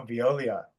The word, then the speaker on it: Veolia: Is that how you pronounce it? Oh, Veolia.